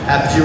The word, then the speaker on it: Apogee: Apogee Robotics.